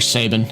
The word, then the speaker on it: Sabin: This is Sbine or Sabin. I I I pronounce it Sabine.